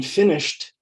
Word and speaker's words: finished: don't say the e in finished the e d sounds like t finish is two syllables finished is also two syllables because the e is silent you don't say the e here's a different one